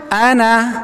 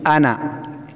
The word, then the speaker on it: أنا: نا نون فتحة نا أنا أنا با فتحة با با فتحة با in the أنا is no ألف is silent right ألف silent you read أنا با فتحة با با